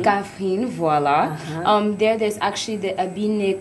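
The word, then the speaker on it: Kaffrine: It's what they call, Axel, can you help me to pronounce it? Kafrine. Kafrine, voilà.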